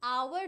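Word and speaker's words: hour: ये प्लीज याद रखना क्योंकि आवर जो होता है ना वो लिखते हो तुम एच ओ यू आर। बट वो साउंड होता है ओ। You don't pronounce H.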